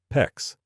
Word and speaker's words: PEX: PEX rhymes with flex pipe with a tubing cutter, or worse, a hacksaw.